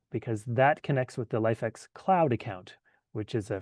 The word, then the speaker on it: LIFX: So, uh what you'll need is a LifeEx or Lifx pronounced LifeEx Wi-Fi enabled color bulb.